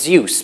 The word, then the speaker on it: Zeus: But for Zeus, there are many different pronunciations. I think the recommended one is Zeus, but if you use a different one that's in the dictionary, then it's fine.